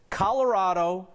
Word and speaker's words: Colorado: this state pronunciation debate Kelly says Colorado like avocado a fourth-generation Co native